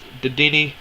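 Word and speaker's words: Dedenne: It's Didini. I'm 100% sure that's how you say it.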